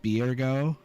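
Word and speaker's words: Byregot: the crafting actions which is spelled b-y-r-e-g-o-t is pronounced biergo so some more information for you graha is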